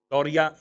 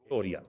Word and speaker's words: توریہ: اسے توریہ کہتے ہیں۔ توریہ، اے واو رے یہ گول ہے توریہ۔ میں نے اس لیے اس کی تلفظ کی وضاحت بھی کر دی تاکہ اگر کہیں آپ